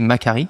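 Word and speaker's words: Macquarie: Tu es diplômé d'un master 2 en business international de l'université Macari à Sydney, ça se prononce comme ça.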